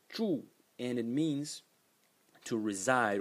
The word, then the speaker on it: 住: So the first character is pronounced zhu, and it means to reside or to dwell.